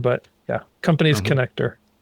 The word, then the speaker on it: ConnectDER: Yeah, it's a play on the word, right? A lot of people say connecter, but yeah, company's connector.